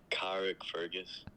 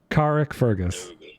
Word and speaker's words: Carrickfergus: Alright, it's a Carrickfergus.